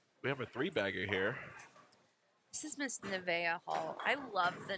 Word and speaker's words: Nevaeh: And she's like, Nevaeh. It's heaven backwards.